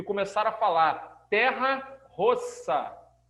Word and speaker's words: terra rossa: e começaram a falar terra rossa. Porque o vermelho italiano, a pronúncia, tá? Vermelho é rosso, com 2 S. Aí os italianos falavam, ó, terra rossa, que quer dizer terra vermelha.